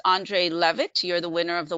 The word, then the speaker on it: Leavitt: it is Andre Levitt, and the last name is spelled Leavitt. And so it's Andre Levitt.